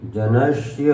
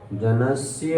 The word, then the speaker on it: जनस्य: तोष तोष मुया मुया जनस्य जनस जनस्य जनस्य हां जनस कई लोग बोलते जनस जनस नहीं जनस अंत में या आधा स को दबाएंगे तो या का उच्चारण होगा चक्षु चक्षु न्यत्र तो